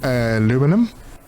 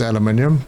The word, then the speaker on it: aluminium: aluminum it's uh yeah only in North America do they pronounce it aluminum the rest of the English speaking world says aluminium so sorry guys I'm